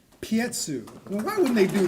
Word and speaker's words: Piekuch: it's spelled Piekuch. Tell me. Pietsu.